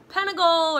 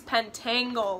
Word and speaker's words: Pentangle: that's what it is I called it like the Pentagon or something like that and everybody was like it's pentangle or something like that and I probably just said it wrong again now everyone's gonna